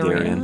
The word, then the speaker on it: Darian: Yeah, I say Darian. Okay. I say Darian. Darian. Almost no one... Yeah, don't worry too much about it, Jen. Almost no one pronounces it that way.